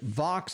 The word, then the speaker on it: vox: is odd because it vox rhymes with box so you'd think look